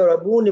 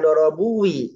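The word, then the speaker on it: يضربني: dia kan ya aku biar bacanya dorabuni bukan dorabui ya dorabuni yadribuni itu nunnya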